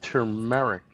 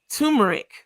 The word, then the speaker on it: turmeric: Ali Ali can't even say the word turmeric. He says turmeric. Turmeric. Cuz that is There's an R before the M.